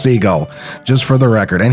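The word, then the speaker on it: Sigall: little later as well and yes it is pronounced seagull i did ask her personally i always felt weird i was like s-i-g-a-l-l i was like is it seagal it can't be seagull and she said no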